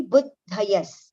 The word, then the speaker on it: बुद्धयस्: Now over here, buddha and ya. Dha and ya are separated. So the pronunciation will be buddhayas.